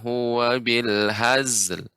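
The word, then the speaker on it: بالهزل: jangan terlalu cepat Ibu pengucapan Hazel Adapun Hazel ini terlalu cepat ya tapi ya penguat karena Zain bukan huruf Qalqalah dan kita akan menyusunkan lam jadi pengucapannya weh wabil hazel hazel ada nya melambat seperti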